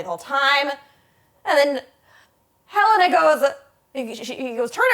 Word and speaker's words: Helena: back and confronts her is it Helena or Helena it's Helena I've been saying it wrong this